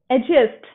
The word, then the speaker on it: adjust: that's why you know adjust we don't pronounce this d ed just no it just be